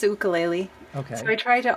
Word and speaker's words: ukulele: the correct pronunciation ukulele there's two pronunciations the hawaiian pronunciation is ukulele okay so i try to honor that but it's so often called ukulele as well uh i'm